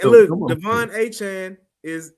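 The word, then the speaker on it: Achane: It's like look Devon Achan is if we said his name wrong forever and a day. We've been calling him Achain. Forever and a day. And his name is Achan.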